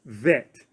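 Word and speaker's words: ב: You know, without the dagesh pierced in the middle of it, of the bet, it's a softer sound. It's vet. So you have bet and you have vet.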